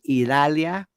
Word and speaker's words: Idalia: And by the way, Bayshore Boulevard is flooded now because of Idalia. Notice how I say that. That's the West Tampa Cuban pronunciation.